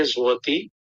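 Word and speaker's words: złoty: Tulisannya zloty tapi bacanya zloty.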